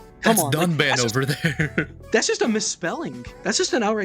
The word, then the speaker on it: Dunban: is just outright incorrect they mispronounce two of the main party members um dunban and Ry saying Duncan and Rain even though they pronounce